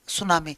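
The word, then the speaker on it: tsunami: mean by the terms सुनामी सुनामी word का बेटा T silent होता है टी एस यू एन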